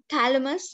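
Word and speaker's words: Chthamalus: Thalamus that is smaller this is such Thalamus but in this CH is silent so balanus dominates the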